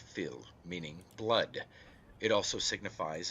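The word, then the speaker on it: fuil: word is taken from the irish word phil f-u-i-l pronounced phil meaning blood it also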